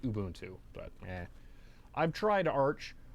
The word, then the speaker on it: Ubuntu: it is just use ubuntu and it's actually pronounced ubuntu but yeah i've tried arch arch is great